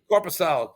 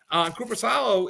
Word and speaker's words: Korpisalo: Korpisalo.